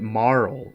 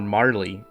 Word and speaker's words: Marle: it's the correct way I recognize that moral is the correct way to pronounce Marley's name but me and my friends called her Marley when we were growing up and so she will always be Marley I don't care what